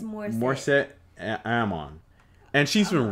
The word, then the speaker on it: Morissette: Like Morissette, Alanis Morissette.